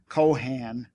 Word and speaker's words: Cohan: his name was spelled Cohan and pronounced with an accent on both syllables the be coens resident